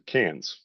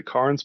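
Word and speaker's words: Cairns: Uh but as we're getting up uh more north, you're going to get up to Canes. And a lot of people say KS, but it is pronounced Canes by the locals.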